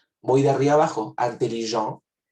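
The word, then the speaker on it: intelligente: Si aquí yo no pronuncié la T en intelligent masculino, ahora sí lo voy a pronunciar. Intelligent se vuelve en femenino, intelligent.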